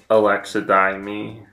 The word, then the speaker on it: alexithymia: Yeah, that's alexithymia. Alexithymia. I have to say every syllable to get it pronounced correctly.